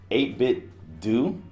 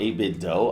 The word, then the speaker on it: 8BitDo: but it's pretty close it's the 8-bit do or a bit Doh I've had to pronounce both ways controller it's basically a